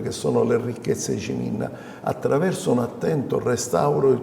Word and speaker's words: Ciminna: appunto della della parola Ciminna che tra l'altro noi pronunciamo con la C un po' alla francese SH min quasi con una S dietro quasi con una o E provenga appunto dal